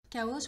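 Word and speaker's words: χάος: n'existe pas en français il est prononcé que kaos prononcé à la française donc je pense que vous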